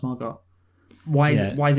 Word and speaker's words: Margot: sense more go because if there's a t at the end yeah so why is it why is it just why is that t there if it's not pronounced margot why is it why